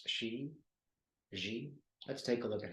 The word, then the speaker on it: Xi: Let's take a look at President, I think it's pronounced Xi.